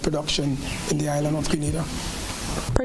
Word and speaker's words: Grenada: So today, like we Germans say, we are in Granada, but I heard in English it's called Grenada. Say it right. Grenada. Say it right. Grenada. That's right. It's not granada.